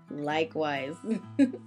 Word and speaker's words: likewise: Likewise. okay. 所以呢，总之就是，如果你要表示你同意对方说的，基本上就可以用likewise 来表达只是提醒大家这个注意一个发音的小要点就是这个词啊它的拼写是 like L-I-K-E 再加上 wise W-I-S-E 这个词最后要发浊辅音 z likewise 声带是要震动的大家不要发成了 s 的音就是 likewise Alright there's one more